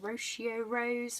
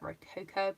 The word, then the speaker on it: Rococo: one laugh at me, Rocio Rose, which I know that's not how you say it, it's like Rococo, but I get confused.